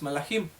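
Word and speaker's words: מלאכים: La palabra, como ya lo aprendimos en la parashá anterior, la palabra mensajeros en el hebreo se pronuncia malach y el plural es malachim.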